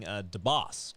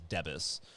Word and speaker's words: DeBoss: More and more people are getting DeBoss correct, which has been nice. But, for years it was always Debus. So, yeah, it's been nice to get the DeBoss. I guess the way it is spelled, and people do pronounce like Deborah, so I could see where they get that.